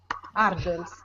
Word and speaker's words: hurdle: Hurdles. Hurdles. Hurdles. Yes. Her. Like her. Her books. Her mother. Hurdle. That's it. Hurdles. Kind of rhymes with turtles.